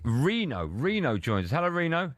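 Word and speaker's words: Reeno: Hello, Reno. How you doing? I'm doing well. Hello, guys. Nice to talk to you. Likewise. Yeah, you got the name right. You pronounced it brilliant. Well done. Normally it's Rhino.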